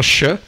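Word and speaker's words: שׁ: est placé le point si le point est placé sur euh la droite du Chine ça se pronon che et si c'est le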